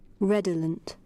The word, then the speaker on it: redolent: using our number but I have the proper pronunciation here let's hear reolent reolent reolent reolent reolent right that is how you pronounce the name so wherever you go